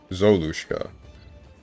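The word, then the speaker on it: Золушка: For me it's pronounced as... Zalushka? Zolushka.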